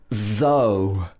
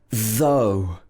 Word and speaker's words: though: oh for example in though though for example though it was hot i still went for a run so here the o-u-g-h is pronounced o and there's another word